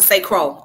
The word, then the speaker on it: St. Croix: Okay, it's pronounced St. Croix, okay.